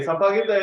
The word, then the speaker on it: sampaguita: Okay, sampaguita is the Philippine the national flower. 다 같이 한번 해보자. sampaguita. Okay, the pronunciation is right.